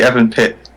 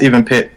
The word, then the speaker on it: EvenPit: but uh I think I think a lot of people just say Evan pit I'm not sure I'm not sure why but it's it's it's pronounced even pit um it it's there's